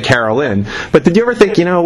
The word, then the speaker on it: Caroline: Did you ever think, obviously there was Sweet Caroline, Neil Diamond, obviously not to you, and you pronounce it Carolyn, but did you ever